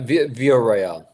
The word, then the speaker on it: Villareal: I just wanted to add uh Peter, how do you pronounce Beatrice's last name Villareal? Uh Villareal.